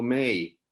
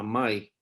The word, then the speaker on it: Mai: A mi mamá los gringos le siguen diciendo May, como si fuera Sí, el mes de mayo, pero se llama Mai, tiene 92 años y